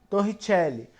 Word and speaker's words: Torricelli: equação de torricelli ou a gente escreve a gente lei como torricelli porém se escreve torre chepo porém se lê como tô richelle na verdade não é